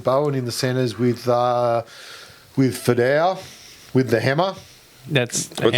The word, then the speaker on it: Fidau: He's asked me to pronounce it Fidau. Okay. I'll let you have that. He sent a message in, he rang the phone earlier tonight and said, please pronounce it like that.